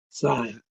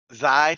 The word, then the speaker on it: Xi: He's a fellow of the American Physical Society and a member of Sigma, oh God, how do you pronounce Sigma? Sign. Xi, thanks, and the American Scientific Affiliation.